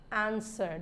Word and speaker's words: answer: also there who whoever answered the W is not pronounced in answer sword some people pronounce